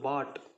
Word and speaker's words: bought: அடுத்து பாட், B + A + T, அவ்வளோதான். பாட்னா அவ்வளோதான் நம்ம. ஆனால் வேர்டு பாருங்கள், BOUGHT இவ்வளோ வருது. ஆனால் நம்ம படிக்க போகிற ப்ரொனவுன்ஸ் பண்ணுறது பாட்.